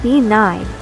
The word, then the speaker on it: Bean: woman is the dreaded be n the washer wom at the Ford the bean n pronounced Ben is related to the